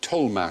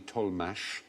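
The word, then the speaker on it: Tollemache: could just say that about toxic yeah good pronounced people was a member there's an aristocratic family here tolh spelled t o l e m a c h e tolh there was the tolh tolh family double barrel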